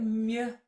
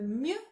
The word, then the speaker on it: mieux: Okay, let's look at mieux now. So mieux means better and the best, just like meilleur does, but it's used in a very different way. So first of all, pronunciation is mieux.